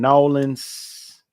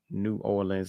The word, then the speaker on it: New Orleans: I'm sorry, from Nolans. Not New Orleans. Not 3 syllables. It's 2 syllables.